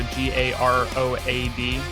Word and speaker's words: Garoad: It's like Garode Music, so Garoad, like GA Road Music.